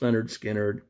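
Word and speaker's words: Lynyrd Skynyrd: fifth and final choice leonard skinner 1973's pronounced leonard skynyrd southern rock band uh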